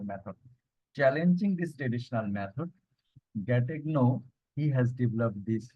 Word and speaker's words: Gattegno: The silent way is the name of a method or approach, you can say, in language teaching devised by Caleb Gatten, Gattegno. Okay, the Bengali pronunciation you can see Caleb Gattegno.